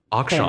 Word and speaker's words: Akshan: Akshan.